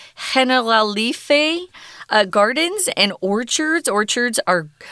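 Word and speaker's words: Generalife: these Gardens which have kind of a weird pronunciation it's Spanish so it's henna La Liffey Gardens and Orchards orchards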